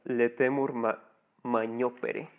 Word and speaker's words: Laetamur magnopere: Ahí en el título pues viene cómo se escribe, ¿no? Se pronuncia Letemur Magnopere.